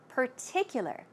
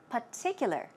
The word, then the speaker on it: particular: r purr Pur and in this case there is no R sound it's a p p so let's try it out particular particular this time P particular particular it's your choice